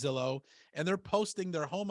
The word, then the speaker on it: Zillow: just gonna sell and when I say Xylo I'm saying that as a joke because some of them actually say that right they don't even know how to properly pronounce Zillow and they're posting their